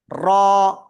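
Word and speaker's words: ر: জিহ্বার agar পিঠ তার বরাবর উপরে তালুর সাথে লাগাবো, লাগিয়ে আমরা এটা একালিফটা নিয়ে উচ্চারণ করব। র, র।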